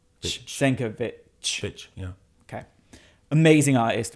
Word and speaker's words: Sienkiewicz: It's a Polish name. So it's a V-W kind of Yeah, Sienkiewicz, apparently. Sienkiewicz, yeah. Sienkiewicz. No, so CZ is ch. Sienkiewicz.